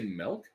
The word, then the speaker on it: milk: wait wait wait wait you don't say milk no that's a Midwestern thing Gilbert 100% a Midwestern thing we the only people that say milk that way everyone else pronounces it the way it's spelled how milk milk you're saying milk with an E Yeah write out the letters m l k and then say the word milk milk I didn't hear any